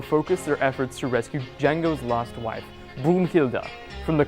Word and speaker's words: Django: Here's Frank with a review of Quentin Tarantino's Django Unchained, with a silent D. Hi. D-J-A-N-G-O. The D is silent.